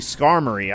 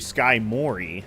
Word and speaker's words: Skarmory: a different name and I pronounced it wrong, but it sounded like it fit to me. It was actually Skarmory. I actually used to call Skarmory Skymori, so that was the